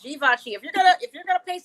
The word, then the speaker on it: Givenchy: Everybody tries to pronounce it Givenchy, but it's Givenchy.